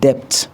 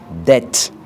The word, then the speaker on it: debt: prononcée lorsqu'elle est placée avant T. Par exemple, on ne dit pas debt, on dit debt, c'est-à-dire la dette. Alors qu'en anglais, ça s'écrit avec B, mais on ne lit pas le B.